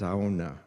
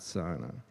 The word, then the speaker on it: sauna: And it's pronounced sauna, not sana.